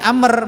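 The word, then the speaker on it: عمرو: tapi tetap membacanya Daud tapi Amr meskipun ada wawunya dibaca pendek dari mana Amr ini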